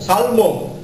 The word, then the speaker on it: salmon: Salmon. But the L is silent, of course.